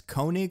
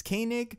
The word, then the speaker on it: Koenig: William from the patreon originally I was pronouncing Patton Oswalt's character's name as Koenig when really it's Koenig he told me and